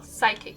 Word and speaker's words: psychic: The P in front of an S is just not pronounced in English.